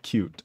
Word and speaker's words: Qt: Sorade says also, QT is pronounced like cute.